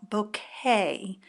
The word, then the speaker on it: bokeh: class is about a technique called bouquet and it's spelled b o k h I love it I